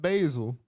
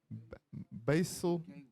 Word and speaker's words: basal: The, not basil. Is it basil? Basal ganglia. That deal with habits, if I'm not mistaken.